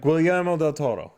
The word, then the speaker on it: Guillermo del Toro: Guillermo del Toro. Yeah, Why do we know? Guillermo del Toro. Yes, that's how you pronounce his name.